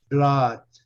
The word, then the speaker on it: blood: Blood. Sabe o que significa blood? Sabe, Magali? Sim. Blood. É a mesma coisa, tem um duplo. Vocês estão vendo duplo O, mas não pronuncia U. É uma exceção, tá?